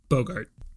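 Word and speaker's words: Boggart: it's a it's a bogit yeah Bogart like Humphrey yeah yeah RIT's with their stupid pronunciation there is an R in their back so you should use that are mmm I'm pretty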